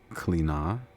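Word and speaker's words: Clíodhna: But, it's pronounced I mean, but it's spelled c h l i o d h n a, but it's pronounced Cliodhna.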